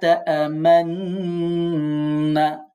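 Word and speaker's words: تَأْمَنَّا: লা তা'মান্না, যদিও আপনারা শুনছেন আমি তা'মান্না বলছি, কিন্তু উচ্চারণ করার সময় আমাদেরকে ঠোঁটটা গোল করতে হবে।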